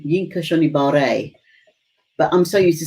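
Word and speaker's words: Yinka Shonibare: quite a few times and his name is pronounced y yinka shibare but I'm so used to saying yinka Shibari don't be surprised if I forget now yinka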